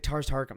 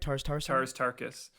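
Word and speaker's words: Tars Tarkas: So you really have to pay attention to how like Tars Tarkum, like am I even saying it right? Tars Tarkus. Yeah. Difficult. I'm gonna try one more time. Tars Tarkus.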